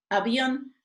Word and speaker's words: avión: Ejemplo, avión, bión es la sílaba tónica y termina en N.